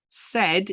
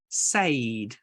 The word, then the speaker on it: said: to learn to say said is an example of a word that is not phonetic said phonetically would be spelled s e d that says Sade or depending on where you're at in your phonics so we need to